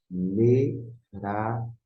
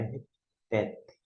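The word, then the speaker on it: מְרַחֶפֶת: Merafet. Não é repete, porque a consoante que aparece, que é o F, e não é o P.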